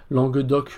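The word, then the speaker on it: langue d'oc: L de la France langue doc langue d' d'ailleurs on ne prononce pas vraiment le C pour ce qui est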